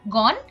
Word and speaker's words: গণ: কিন্তু যদি পরে মূর্ধন্য ন থাকে, তাহলে অ এর উচ্চারণ অবিকৃত থাকে, অর্থাৎ ও এর মতো হয় না। যেমন গণ, আমরা কিন্তু গণ বলছি না, গণ।